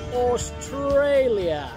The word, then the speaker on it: Australia: En inglés, Australia. Una palabra en la que cada una de las tres A's se pronuncia diferente. Australia.